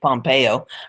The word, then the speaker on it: Pompeo: representative Mike um Pompeo I still want to call that pompo but I guess everybody else is pronouncing pronouncing it Pompeo Republican of Kansas to